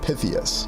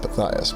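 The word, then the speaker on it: Pythias: Or is it Knights of Pytheus? No, no, it's Knights of Pias, but interesting also considering pronunciations.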